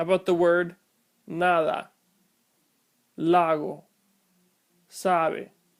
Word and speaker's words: nada: How about the word nada, lago, sabe? If I mispronounce these words with hard sounds, it would sound like nada, lago, sabe. But the correct pronunciation is nada, lago, sabe.